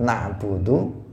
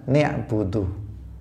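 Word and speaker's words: نعبد: Misalnya dia mengganti nunnya lafadz na'budu itu diganti dengan ni'budu.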